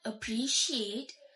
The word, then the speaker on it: appreciate: For an example, the word appreciate in standard English, it is pronounced as appreciate. Appreciate. The last syllable is the stressed one.